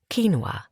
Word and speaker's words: quinoa: And according to Roy, I didn't know how to pronounce it either. Quinoa, apparently.